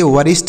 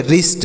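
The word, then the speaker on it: wrist: पढ़ेंगे इसे पढ़ेंगे रिष्ट यहां पर डब्लू साइलेंट है इसे वरिष्ठ नहीं पढ़ेंगे ऐसे नहीं पढ़ेंगे तो फिर क्या पढ़ेंगे सर इसे वरिष्ट नहीं पढ़ेंगे इसे क्या पढ़ेंगे रिस्ट डब्लू साइलेंट है इसे रिस्ट पढ़ेंगे और रिस्ट मतलब क्या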